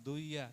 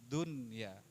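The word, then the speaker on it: دنيا: Awas kalau ada nun mati dan ianya nyambung, itu dibacanya jelas. Bukan duya tapi dunya.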